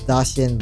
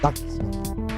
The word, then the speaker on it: Dachshund: It's like how how instead of saying Dashin, like how Americans usually say call a wiener dog, I say Dachshund because that's the correct German pronunciation.